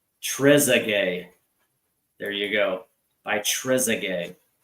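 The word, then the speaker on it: Trezeguet: He says it's pronounced Trezay.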